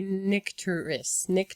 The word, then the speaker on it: Nycteris: So I pronounce it Photogen and Nycteris. All right. Nycteris. We don't say water. I say Nycteris.